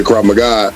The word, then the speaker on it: Krav Maga: one of my dear friends oh thank you Krav Maga I'm pronouncing that correctly yes sir it's an Israeli